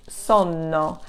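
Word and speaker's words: sonno: it means sleepiness it's so no and the pronunciation is different because of the double consonant you're going to rest slightly longer on that sound so you're gonna say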